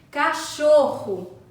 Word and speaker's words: cachorro: garganta Socorro dois erres cachorro cachorro também possui dois erres correr correr nesse caso